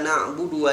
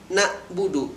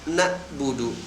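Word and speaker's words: نعبد: yang baca dengan kalimat na'budu merubah huruf Ain yang disukunkan menjadi huruf hamzah yang disukunkan menjadi terdengar nah Budu akan tetapi dalam penulisannya itu dengan huruf Ain sukun yaitu nabudu lebih kurang cara bacanya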